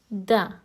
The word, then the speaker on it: د: Da is uttered when the front tongue touches the upper teeth. Now repeat after me. Da. It is similar to the da in doctor.